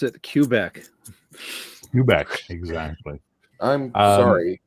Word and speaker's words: Quebec: We are heretofore going to pronounce it Quebec. Quebec, exactly. I'm sorry. It's okay. It's okay. Okay. In French, it's pronounced Quebec, right? And in English, it's pronounced Quebec. But what's really funny is where I grew up, Mrs.